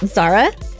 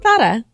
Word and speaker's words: Zara: It is actually a th sound in Spain. So I guess it's Zara. Oh my, that's like Mike Tyson saying it. Want to go to Thada, big boy?